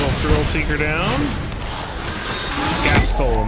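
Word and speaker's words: Gastal: right let's get a gastro thrill seeker down gastl not gastro I always say gastro like gastro bypass thrill seeker it's gastl gastl thrill seeker can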